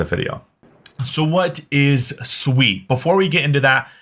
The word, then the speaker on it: Sui: Sweet It Is Not sui I've been corrected multiple times so if you want to be on the better half of The Suite Community just pronounce it sweet now the project itself